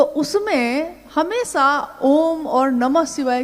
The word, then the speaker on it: ओम: दी जो प्रकट हुई उस ध्वनि की आवाज थी अ उ म अगर एक साथ सुना जाए उसको तो उसकी आवाज गूंजती हुई ऐसी है जैसे हम बोलते हैं या उच्चारण करते हैं तो हम कहते हैं ओम है वो अ उ म